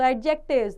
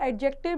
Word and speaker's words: adjective: सो एडजेक्टिव्स the word एडजेक्टिव means added to इट हैज़ इट्स D silent.